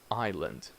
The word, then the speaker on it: island: you did not say the ass is not pronounced yes island okay and usually words from Greek happy agree